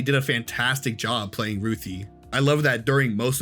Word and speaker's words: Ruthie: was reading the comic, I always pronounced it as Ruth. I I don't know why it was just written like that, so I just thought that's how they pronounced it. So when I first heard in the trailer, they were like, "Oh, it's Ruthie."